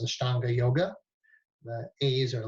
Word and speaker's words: Ashtanga: You hear it in the West pronounced Ashtanga Yoga.